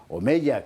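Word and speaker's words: Omella: Omeya, que yo siempre lo pronuncio con Y porque es lo que me parece que le queja mejor que Omeya, ¿qué quiere usted que le diga?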